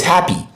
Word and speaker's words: happy: Where do we find the stress syllable in two syllable adjective? The first. The first is the stress syllable, and the first syllable here is hair, hair. So we are going to pronounce this in a higher pitch, longer and slower.